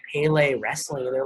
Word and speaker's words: Pele Pro: And so this is Pele Pro. Some people say Pale Pro.